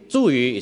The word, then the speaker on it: 茱萸: 这两个字念茱萸。茱萸 is pronounced.